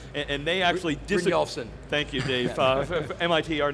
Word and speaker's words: Brynjolfsson: whose last name I can't pronounce, and they actually Brynjolfsson.